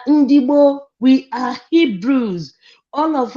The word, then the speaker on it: Ndigbo: You know, the pronunciation of the white people, when our people talk, they just pronounce it the way they want. They call it Igbo, Indi. Well, we are Ndigboo, we are Hebrews.